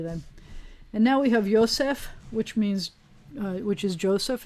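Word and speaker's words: יוסף: of the hebrew then you would say yosef the accent would be on the last syllable most of the words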